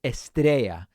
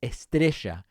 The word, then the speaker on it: Estrella: you would pronounce it estrella if you are from argentina like i am we would say estricha and the program is